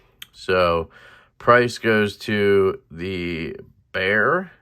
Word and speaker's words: Bexar: So price goes to the Bear. It's pronounced Bear, but it's spelled with an X.